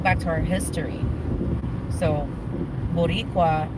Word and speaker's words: Boricua: Boliqua? Where? Boliqua? Boliqua? Boricua. Yeah. Boliqua. What does that mean? That's Vico Chital. So that's actually that goes a little back to our history. So Boricua, it's a reference, like you're Puerto Rican, and